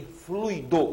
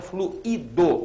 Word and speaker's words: fluido: gratuito e não gratuito fortuito e fluido o fluido o gás propriamente dito sendo que essa palavra tem também a pronúncia fluído que aí no caso é outra palavra eu tenho ali o